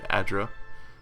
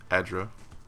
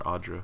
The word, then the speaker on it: Adra: Or Adra, as everyone keeps calling it. A fine poleaxe. We'll stash that. Your reflection warps and twists in the live gleaming Adra. And yes, I know everyone's pronouncing it Adra.